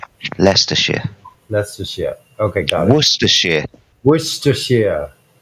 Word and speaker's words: Leicestershire: let me do it right let's just yeah leicestershire leicestershire leicestershire leicestershire okay guys Worcestershire Worcestershire Hampshire Yorkshire Yorkshire